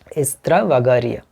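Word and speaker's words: Estravagario: হ্যাঁ, এক্সট্রা আমরা বলি, ওদের স্প্যানিশ ভাষায় উচ্চারণটা হচ্ছে এস্ত্রা, এরকম উচ্চারণ, এস্ত্রাভাগারিয়া, ভ্যাগারিয়া এরকম। তো এখানে রিও যদি থাকে তাহলেও আমাদের উত্তর ঠিক হবে, রিয়া যদি থাকে সেটাও ঠিক হবে।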